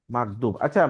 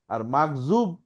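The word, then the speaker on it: مغضوب: মাগদুব, আচ্ছা, মিমের পরে কি আছে, গয়েন, দ, বিপ, বা। হ্যাঁ, তো দটাকে অনেক সময় কিন্তু জ উচ্চারণ হয়, তাহলে কি হইলো, গজব হইলো না, গয়েন দ বা গজব।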